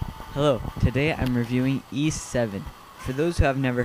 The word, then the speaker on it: Ys: hello today I'm reviewing E7 for those who have never heard of e you may have thought the game was pronounced Ys or Y well it simply pronounce e or E both work the game was developed by